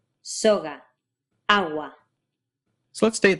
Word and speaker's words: soga: A similar thing happens with Spanish's g, as in soga. The symbol looks like a little V with a curlicue underneath, and it's pronounced in a similar way to a hard G sound, g, which is generally made by bringing your tongue all the way up in the back and closing off the flow of air, g, g.